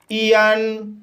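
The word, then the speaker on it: aeon: तो गाइस, इसका नियम है, ए ई का मुख्य उच्चारण ई किया जाता है। जैसे ईयन, ईयन शब्द में ए ई आया है, इसलिए ए ई का उच्चारण ई किया जाएगा, इसलिए इसे ईयन पढ़ा जाता है।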